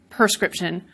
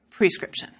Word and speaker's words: prescription: like ax and ask, but not on others, perscription, prescription. In this lecture, we'll be looking at a few different ways that the pronunciation of word changes over time.